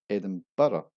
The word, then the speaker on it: Edinburgh: And at number 4 we have the capital city Edinburgh, which of course is called Edinburgh, pronounced Edinburgh, or Edinburgh, Edinburgh.